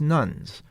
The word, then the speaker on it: nones: us adults or 29% are religious nuns that's spelled n o NES or people who describe